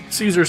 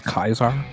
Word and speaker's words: Caesar: believe it is Kaisar. Has it always been mispronounced as Caesar? Like, Yeah, it's always been mispronounced as Caesar. Caesar's the English way instead of the Latin way.